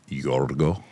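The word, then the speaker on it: Γιώργος: Do people know that the Greeks pronounce George Yorggo? Yorggo.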